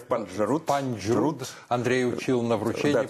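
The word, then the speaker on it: Панджруд: Панджрут. Андрей учил на вручении, да, произносить. Трудно приносить, да, говоря, Панджрут, что там должно быть смягчение Панджрут.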